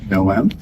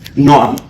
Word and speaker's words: Noam: It's pronounced Noam. Noam. Noam. Noam. It's like Noah from the arc with an M in the end.